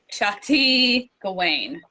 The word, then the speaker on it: Shakti Gawain: And the author, do you know how to pronounce her name? Shakti Gawain.